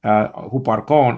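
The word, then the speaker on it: ὑπάρχων: But over here is spelled out, okay, upsilon with the rough reading, so you got hu, and then you got a p, so you got hoop. And then archon is spelled out alpha with the acute marker. That's where the accent is focused on.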